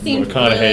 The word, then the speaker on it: McConaughey: think, oh, it's Mcconaughey, because if you just put the wrong emphasis on the wrong syllable, it's really Mcconaughey.